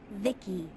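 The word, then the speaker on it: VICI: By the way, I'm V-I-C-I. Pronounced Vicky.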